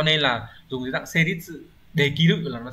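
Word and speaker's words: 成立: Từ số 2 đọc là seritsu, seritsu hán tự của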